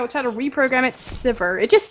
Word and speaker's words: Sivir: Is it Sivir or Siv? I can't even say it correctly now. I just want to say Severe. I know. You've said it for forever. That's how RF Legendary says it, I've heard. But it's wrong. Wow.